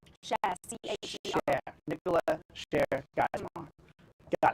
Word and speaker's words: Cher: Cher, C-H-E-R.